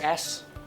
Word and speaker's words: as: as nhưng thá vào đó họ nói suck as suck AS các bạn phải phân biệt hai